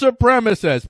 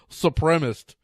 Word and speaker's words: supremacist: river now who can't who can't pronounce the word supremacist ow it's supremacist please pronounce a word right for the love of everything that season please try to pronounce the word supremacist as supremacist or not supremists supremacy you're going to